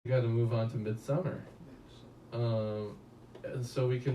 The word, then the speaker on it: Midsommar: yeah no it is it's pronounced like that mid-summer but the it's it's because of norwegian and stuff in swedish or something like that yeah because that's what